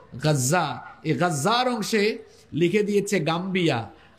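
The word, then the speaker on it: غزة: বর্তমান গাজ্জা যে অংশে আপনারা গাজ্জা বলেন আর কি আরবি উচ্চারণ হলো গাজ্জা গাজ্জার অংশে লিখে দিয়েছে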